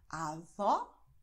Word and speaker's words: avó: Großmutter heißt Avó und Großvater heißt Avô. Siehst du? Avó offen, Avô geschlossen. Okay?